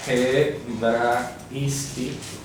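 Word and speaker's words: ἑβραϊστί: Hebraisti es, repito, se pronuncia así, hebraisti, y es arameo.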